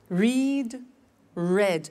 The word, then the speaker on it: read: Read, read. Notice that. Now, read and read are written exactly the same, but the pronunciation changes in the past tense.